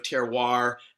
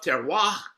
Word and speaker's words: terroir: of switzerland and so i love terroir as jose is pronouncing it in the united states we generally put the r on and and call it terroir so that's what i